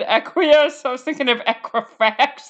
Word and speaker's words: Equius: like non-pronounceable and then oh his name is pronounceable his name is called aqueous how was i ever going to get that uh so the very first time i thought everybody said aqueous i was thinking of